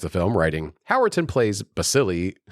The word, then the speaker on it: Balsillie: Critic Adam Kempenaar also praised the film writing Howerton plays Balsillie like an actual shark.